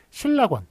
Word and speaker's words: 실낙원: 실낙원 할 때 이게 실 플러스 낙원이거든요. 그러니까 낙원을 잃어버렸다는, 예, 그런 이제 내용의 책 아닙니까? 예, 그렇기 때문에 실낙원이라고 읽어야 됩니다. 실이라는 게 접두사처럼 쓰이는 한자어예요.